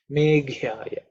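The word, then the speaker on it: मेघ्याय: This G is the fourth letter in the K varga, so it has to be aspirated. Meghyaya, Meghyaya.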